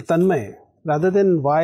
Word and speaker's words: Tanmai: chose I over y so the reason they chose is that it represented its pronunciation more accurately in Hindi my name can be spelled clearly it's then my so my mom said that if I put a y it'll seem like it's then may whereas my name was tanmay so to represent that pronunciation she chose a i instead tell me when did